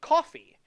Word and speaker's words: Ko-fi: There's also Ko-fi, which I don't know how it's spelled. I think it's coffee with a K. Is it? Ko-fi.